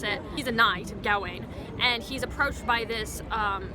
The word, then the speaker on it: Gawain: Sir Gawain, or Sir Gawain, depending on how you pronounce it. He's a knight, Gawain, and he's approached by this Green Knight who